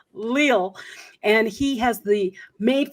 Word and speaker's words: Leal: this his name is i i say his name is uh real leo it's his name is gabriel lill and he has the